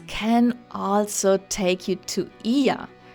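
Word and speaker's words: Oia: A great alternative to going up to Fira is local boats can also take you to Ia. Yes, it's spelled O-I-A. We were confused at first too.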